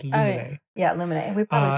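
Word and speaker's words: Luminae: I always want to say Lumiere, but that's not Lumiere. It's Lumine.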